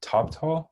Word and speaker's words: Toptal: used to work for top tall is it is that how you say it yeah yeah it's like top talent but the int ah